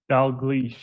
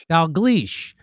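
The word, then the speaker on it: Dalgleish: uh, Professor Angus, uh, I can't pronounce his last name. Uh, how do you say his last name, Nick? Dal Gleas. Dal Gleas.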